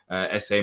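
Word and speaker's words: Esse: um have you seen the reports of um essay um I think it's ESS um yeah that that's how it's pronounced according to Mr Dom Smith Crystal Palace have contacted mil over deal for Roman essay mil would prefer for him to be loan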